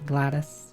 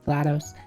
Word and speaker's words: GLaDOS: Cave Johnson, Wheatly, uh, Atlas, Peabody, Glattus. Glados. No, it's GLaDOS.